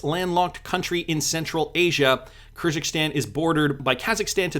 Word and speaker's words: Kyrgyzstan: wanted to check here how do you pronounce this properly just so i'm not uh butchering it every single time kyrgyzstan kyrgyzstan that's how we'll pronounce it so this is interesting